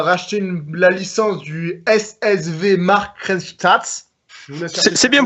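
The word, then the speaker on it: Markranstädt: Il a été en gros fondé en 2009 parce qu'ils ont Red Bull a racheté la licence du SSV Markranstadt. C'est bien prononcé.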